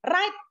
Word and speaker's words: right: Right. Kan bukan R, kan tulisannya R-I-G-H-T ya. Tapi bacanya bukan right.